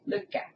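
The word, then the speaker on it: Lykke: That's how Selma said to pronounce it. Luca.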